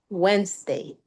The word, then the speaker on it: Wednesday: And you said the D is silent. D is Okay. silent. Good. Where's the And- stress? Show me. Wednesday.